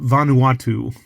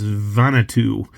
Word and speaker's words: Vanuatu: the letter V and I've always called it Vanuatu but I I had a friend who pronounced it the other day and I love the way they said it so I may try to say it differently and who knows it may be the right way and he pronounced it as vanatu so this is a